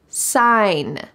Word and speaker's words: sign: so much natural light sign sign notice that the g is silent sign the business sign